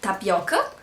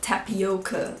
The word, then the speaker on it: tapioca: of them is like tapioka maybe you have heard of it um sounds more like tapioca if you pronounce it with like an English accent but uh tap Y